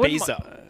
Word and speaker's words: Ibiza: But Ibiza. Oh. It's how you say it in Spanish. Oh, okay. You kind of make your Z a TH sound.